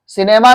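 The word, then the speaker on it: cinema: बोलते हो, citizen, citizen, सिनेमा नहीं, सिनेमा, सिनेमा, सिनेमा नहीं, हल्का ना बोलो, सिनेमा, वेरी गुड।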